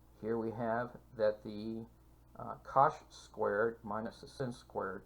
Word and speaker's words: cosh: the hyperbolic cosine and that's pronounced cosh and from these you